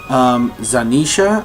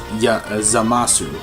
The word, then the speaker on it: Zamasu: Finally meeting this actual Supreme Kai of Universe 10 named Zanisha, I think his name is. Wow, I pronounced it wrong, I apologize. It's ZAMASU.